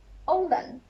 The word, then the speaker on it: oğlan: Oğlan, not the stretch one, oğlan, not like that.